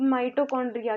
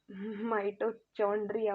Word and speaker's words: mitochondria: एंड ये देखो, अब माइटोकॉन्ड्रिया की बारी आती है। माइटोचॉन्ड्रिया मत सोच लेना बच्चों, ये माइटोकॉन्ड्रिया है, इट्स नॉट चॉन्ड्रिया।